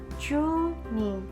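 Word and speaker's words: 十二: Angka 12 itu kan 10 ditambah 2. Nah, bacanya chu ni. Nah, kalau untuk angka 20 kita sebutkan sesuai dengan penyebutan dalam bahasa Indonesia, yaitu 20. Berarti kita baca ni chu.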